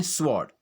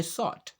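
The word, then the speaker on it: sword: ये आम बोलचाल में हम इसे कैसे प्रोनाउंस करते हैं, स्वॉर्ड, जबकि इसका जो प्रोनाउंसिएशन है वो क्या है, सॉट।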